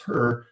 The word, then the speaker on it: HRRR: And then we have the high resolution rapid refresh, which we pronounce HRRR, which is at a finer grid resolution.